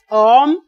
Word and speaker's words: homme: Now, if you listen to my pronunciation, you will see that H is silent.